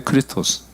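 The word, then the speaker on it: Χριστός: 크리스토스예요, 크리스토스. 이게 크 발음이에요. X가 아니라 크, 이게 리, 스, 톡, 스인데 다르죠.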